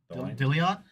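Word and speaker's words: Dilione: Dillion. Freddy Dillion. The fifth. That's right. There's there's four Freddy Dillions before him.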